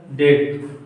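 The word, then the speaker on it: debt: बी नहीं बोला जाएगा, यदि टी के पहले बी आए तो बी का उच्चारण नहीं होगा।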